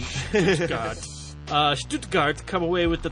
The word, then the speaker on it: Stuttgart: Well, if you really want to be offended, that's called Stuttgart. The SH, imagine. Stuttgart.